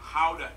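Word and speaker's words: Gouda: and the pride and joy of the nation how to cheese yep that's how you pronounce it guys oh and keep in mind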